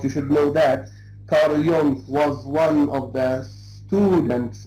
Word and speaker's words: Jung: So the name is not an English name. So you can't say Jung or Jung. Jung. Okay? So it is a German name.